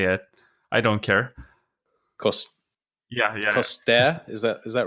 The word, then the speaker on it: Costea: I guess that's kind of long, but my name is Costea. That's how you pronounce it, but Costea or whatever, however you Westerners say it, I don't care. Yeah. Costea, is that right?